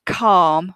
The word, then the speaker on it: calm: first language is but certain things calm might be a problem for quite a few people because of the pronunciation and the spelling with that silent letter and cautious with the